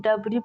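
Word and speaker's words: debris: अगला वर्ड है डबरी इसको डबरी ज नहीं डबरी पढ़ते हैं अगला है जी एच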